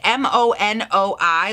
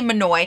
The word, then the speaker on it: Monoi: it's it's written matt m-o-n-o-i like monet monae i really don't know okay i'm just i'm gonna look it up i'm gonna google it cause that's why we love google i'm sorry what okay so from what i'm seeing on all sources i believe it is pronounced monoi uh and i'm gonna